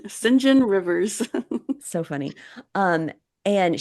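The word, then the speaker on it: St John: Rivers Guy s s singen Rivers yeah they pronounce it singen singen Rivers so funny um and she's like I'm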